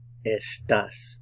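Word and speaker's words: estás: beas you are estas estas put the emphasis on the last syllable to estas do estas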